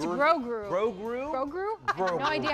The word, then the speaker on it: Grogu: It's Grogu. Grogu? Grogu? No idea how it's pronounced.